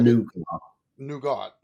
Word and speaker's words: nougat: You said nugget, nougat. So there's sort of two ways you can say it. It's nuggets or nougat. Nougat. So you don't really pronounce the T.